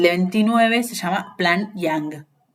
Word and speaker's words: Young: 29 se llama Plan Young. Young, como se escribe joven en inglés, Y-O-U-N-G, si no me estoy